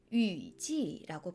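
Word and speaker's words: 雨季: 중국어로는 위지라고 발음해요.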